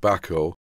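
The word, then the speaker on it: Bahco: back or products and I think it's pronounced back oh I don't have anything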